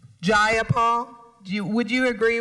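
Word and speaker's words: Jayapal: you agree with Miss ja Paul that there was no takeover was just jaul if you're going to say my name please say it right it's jaul jaia Paul do you would you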